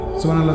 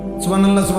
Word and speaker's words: সুবহানাল্লাহ: হা এটা হলকের মধ্যখান থেকে উচ্চারিত হতে হবে। সুবহানাল্লাহ বললে হা তো উচ্চারণ হয় না, তা তো অশুদ্ধ।